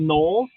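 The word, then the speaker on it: gnolls: basically a hyena man they're called knolls it's spelled g-n-o-l-l they are very demonic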